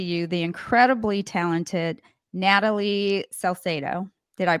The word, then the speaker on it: Salcedo: to introduce to you the incredibly talented Natalie celo did I pronounce that right Natalie yes you did oh